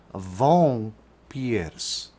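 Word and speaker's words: wąpierz: as she explains here when followed as in this case by a p makes the sound of an m thus this polish word for vampire is correctly pronounced vong piers so when it's put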